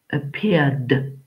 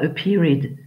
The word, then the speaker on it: appeared: Appeared. Donc, Maë, pas a period, appeared.